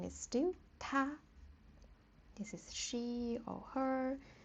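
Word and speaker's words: 她: Like he, she, it, all the pronunciation is ta, but it's just the way we write it.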